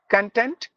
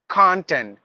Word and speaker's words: content: competitor not competitor competitor content content there's only one spelling for this word but there are two pronunciations two different meanings the meaning is always